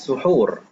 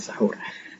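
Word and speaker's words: سحور: Baik, ta'khirus suhur, mengakhirkan makan sahur. Suhur, bacanya suhur, bukan sahur.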